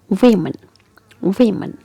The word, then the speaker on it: women: pronounced as men but here that's not the pronunciation Woman No Woman No the correctional session is women women here we have e and e okay so